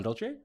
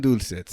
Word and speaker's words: dulce: I don't like the soft C's in Spanish. Pan dulce. No, pan dulce. There's a hard C. Dulce. Dulce. It sounds better like that.